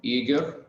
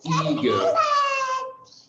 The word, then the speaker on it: eager: And last but not least is about the pronunciation, eager, eager. So we have two syllables in eager, eager, two syllables. The stress is on the first syllable, eager.